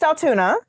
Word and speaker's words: Altoona: about other things okay Altuna it's pronounced Altuna Aluna okay we have